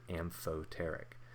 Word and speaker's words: amphoteric: these is water water is said to be amphoteric that's how you pronounce this word and fo tarik anything that can act as both an acid and a base is considered amphoteric so i have two equations here i have